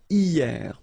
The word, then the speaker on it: hier: Hier. So remember, this H here is not pronounced, okay? So hier.